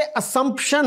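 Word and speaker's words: assumption: और आगे जो है ये असम्पशन है, जेड नहीं है, एस ही है ये। इट is pronounce the वे इट is written, असम्पशन, अस्यूम, आई अस्यूम यू आर a graduate.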